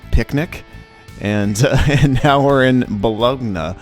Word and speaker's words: Bologna: and now we're in Bologna how do you pronounce it the log no Bologna okay if it was Bologna or bolonia Balad 'no that's where we are yeah because you were